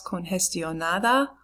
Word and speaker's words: congestionada: ¿Estás congestionado hoy o estás congestionada hoy? Pause, answer. Sí, estoy congestionada o no, no estoy congestionada. Listen to the way that the G is pronounced.